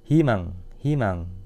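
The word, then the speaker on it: 희망: Kalau ini contoh yang kedua, ini huruf e-nya didahului huruf konsonan, maka kita baca i. Himang, terusan hinsek.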